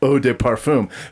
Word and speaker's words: Eau de Parfum: And then it's Eau de Parfum. But honestly, Oh, deep film. I personally think Eau de Parfum is the French slang term for farting in an elevator.